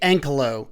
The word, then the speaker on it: Ankylo: take a look at the brand new vste ank Colo at least that's how they pronounce it so that's what I'm going with